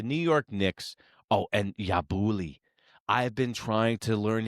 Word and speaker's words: Yabusele: Oh, and Yabuli. I've been trying to learn his name. Is that? Did I say it right? Yabuli. Yep, Yabusele.